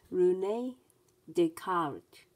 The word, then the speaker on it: René Descartes: His name was René Descartes, pronounced René Descartes.